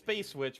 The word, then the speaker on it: SpvceVVitch: So it's SpvceVitch, but it is spelled SpvceVVitch. Oh. Which throws people off.